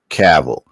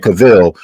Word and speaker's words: Cavill: tell you who the last guy was Henry caval because that's actually I mean he he uh mispronounced his last name he said cavil but we all know he said Henry cavil